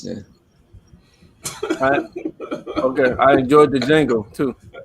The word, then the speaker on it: Django: Okay, I enjoyed the Django too. It's not. The D is silent. What? The D is silent. It's What's James, silent? The D. In The D what? Django.